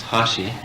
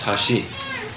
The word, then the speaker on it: hashi: sounds almost the same the chopsticks is pronounced hashi and the bridge is pronounced hashi and so you got